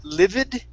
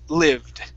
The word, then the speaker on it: lived: Okay, instead of saying livid, it's lived. Lived. Uh-huh, good. Yeah, so we skip right over that E sound, and it goes right to the D, lived, okay?